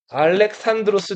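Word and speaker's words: Ἀλέξανδρος: 그 필리포스 2세의 아들이 유명한 알렉산드로스 대왕이에요. 우리 알렉산더 대왕이라고 많이 하는데 알렉산더는 영어식 표현이고 그리스 사람들은 알렉산드로스라고 읽었어요.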